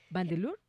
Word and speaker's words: Van de Leur: Bueno, María, sin más preámbulos, entonces, saludemos a nuestra invitada Verona Van de Leur. ¿Van de Leur? ¿Se pronuncia así?